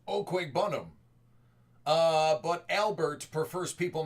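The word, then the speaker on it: Okwuegbunam: out of 10 Joe burrow uh actually it's pronounced oqu bunam uh but Albert prefers people not to try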